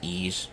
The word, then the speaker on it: Ys: I don't know why I call it the Y series. It's pronounced E's, even though it's YS.